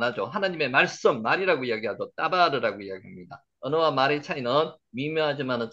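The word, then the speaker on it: דבר: 따바르, 다바르라고 읽는데 따바르, 따바르라는 발음이 더 정확한 따바르, 발음입니다.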